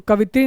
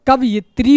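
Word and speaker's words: कवयित्री: तो कवित्री नहीं कवियत्री होता है।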